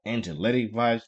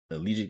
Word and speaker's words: Angelic Vibes: It's called Angelic Vibes, not Allegiant is what I said, I think, but Angelic Vibes is what the bank is really called.